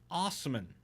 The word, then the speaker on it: Osman: license plate and says it's pronounced Osman as in as if it was OSS Emmy and Osman it's my last name